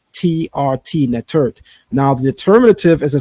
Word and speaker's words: netert: So that's why the word for goddess is not simply to say netter, but nettert, the T on the end, right?